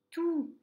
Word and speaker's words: tous: Exemple, elle a lu tout le livre ou tous les livres. Vous remarquez, il n'y a pas de T et je ne prononce pas le S.